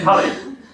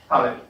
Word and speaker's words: Halley: Oh, come on, how do you pronounce it? I want to know. Halley. Okay, Halley.